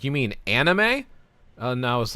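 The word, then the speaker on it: アニメ: So he called him up and he asked him how you pronounce anime in Japanese and he confirmed on speakerphone. It's anime. Yeah.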